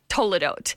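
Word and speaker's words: toledot: Toadote.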